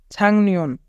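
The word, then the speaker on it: 작년: যদি কবাচিম থাকে এবং তারপরে নিয়ন থাকে তবে কবাচিমের উচ্চারণ অনেকসার হয়। যেহেতু এখানে গিয়ক রয়েছে এবং গিয়ক কবাচিম, তাই গিয়কের উচ্চারণ অনেকসার হবে। ছাংনিয়ন, ছাংনিয়ন মানে গত বছর।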